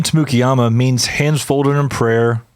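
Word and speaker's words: Tamukeyama: People can say Turkey Mama? I hear people say Turkey Mama all the time, but Tamukiyama, that can be a little more difficult.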